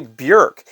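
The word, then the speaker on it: Björk: didn't know it either I've been calling her Bjork for a long time her name is actually Burke and people thought that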